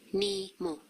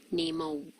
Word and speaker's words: nimo: Nimo. Not nemo. Okay? For example, ko, not ko. Ko. Nimo. Ko, nimo. Alright? Okay, so maybe just keep practicing until you omit that W at the end when you pronounce it.